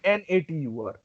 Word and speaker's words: Natur: No, NATUR. NAT. Okay. Natur. UR is Uer. Yeah. Ur. So Natur.